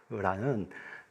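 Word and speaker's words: רוח: 이 흐는 사실 이렇게 세게 발음하면 안 되고요. 그냥 히읗만 들어와서 약간 숨이 탁 이렇게 멎는 정도, 루아흐라는 단어가 있는데요.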